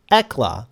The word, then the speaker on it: Hekla: Well, too late for self-doubt, because I was now in the room with the $3,600 Muse Hekla. The H is silent.